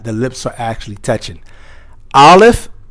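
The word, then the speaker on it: ا: Aleph comes from al-jof, the emptiness of the mouth.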